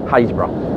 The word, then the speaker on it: Happisburgh: there's so much here happisburg h a double p i s v u r g pronounced unbelievably hazebra only in britain honestly